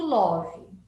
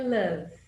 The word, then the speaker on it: love: Primeiro, que eu não estou falando love, né? Então, love é o jeito que as pessoas falam quando aportuguesaram um pouco a palavra aqui no Brasil. A pronúncia correta é love, ok?